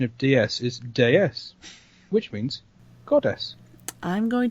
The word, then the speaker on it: DS: classics but did you know that the French pronunciation of des is deus which means goddess i'm going to get a